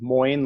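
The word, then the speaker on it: Moin: so I'm Moyne the way you remember how to pronounce my name is Moyne like coin and psychology like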